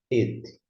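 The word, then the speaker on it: את: Ainda assim, a gente pronuncia et.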